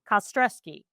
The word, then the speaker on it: Kostrzewski: Yeah, K-A, the word stress and the word key.